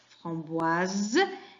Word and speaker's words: framboise: Et là, on a la lettre S entre 2 voyelles. On la prononce z, framboise.